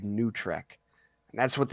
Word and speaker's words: NuTrek: It's called New Trek, and that's what it's spelled NUTREK, and it's literally what they use to describe all the Paramount Plus shows because that's such a travesty.